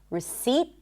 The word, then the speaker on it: receipt: There is a T, but there is no P. Receipt.